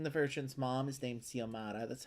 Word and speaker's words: Xiomara: I'd have to work in a Jane the Virgin reference because Jane the Virgin's mom is named Xiomara. That's how I know how to pronounce her name correctly.